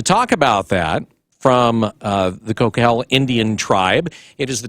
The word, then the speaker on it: Coquille: In particular, it was a casino that had been requested by the Coquille, which I found out is actually pronounced Coquille, Indian tribe.